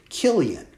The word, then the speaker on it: Chilion: So Elimelech and his wife Naomi, and they had two sons, Mahlon and Chilion. I know it's spelled CH, but it's really a K sound, Chilion.